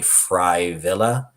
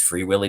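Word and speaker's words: Frey Wille: free willy it is it's f-r-e-y w-i-l-l-e so it's probably fry villa but it's free willy to me uh free willy is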